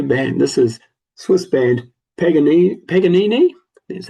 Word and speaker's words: Paganini: This is Swiss band Paganini, that's how you say it, Weapon of Love.